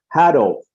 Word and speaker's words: hado: says it's called uh hatto rhymes with shadow h-a-d-o that's uh the